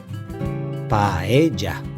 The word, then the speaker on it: paella: Paella. Paella.